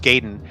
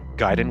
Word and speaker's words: Gaiden: is Silverfalls Gaiden Silverfall's Gayen Deathly Delusion Destroyers. I like saying it wrong because in the '90s we didn't know how to say Giden. We said Gayen.